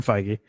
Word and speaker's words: Feige: with the name again I don't want to mispronounce it okay Kevin Feige okay he is a huge Star Wars fan